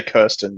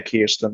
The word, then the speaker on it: Kirsten: I think it's, well, I would say Kirsten, but I think they say Kirsten.